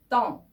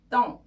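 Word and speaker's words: temps: 이런 의미가 되는 편이죠 떡 발음 주의하세요 끝에 빼 s가 다 발음을 하지 않고요 자음이 의하고 m이 비강모음으로 발음되는 표현입니다 기강모 모음 뒤에 n이나 n이 오면이 보험을 코로 올려줘서 발음을 하는 비강모음이 되는데요 여기서는 그 다음에 m이 왔거든요네 그래서이 발음은 보통 이렇게 발음을 해요 하시다가 코로 올려서 하는 바람이죠 똥 똥 이러면 시간 혹은 날씨 뭐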